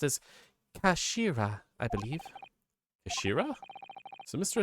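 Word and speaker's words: 頭: written in his head in Japanese but it's pronounced as Kashira I believe Ashira so Mr asagi's word actually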